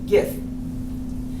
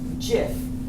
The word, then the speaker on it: GIF: for graphics interchange format Graphics of course is a hard G so you think it would be GIF but when he was asked about it he said it's actually pronounced GIF and there's only one